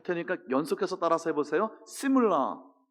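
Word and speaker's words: שמלה: 시물라. 한번 따라서 해보시겠어요? 이거는 C예요. 쉬가 아니고 시물라. 시작. 자, 제가 할 테니까 연속해서 따라서 해보세요. 시물라, 셜로모.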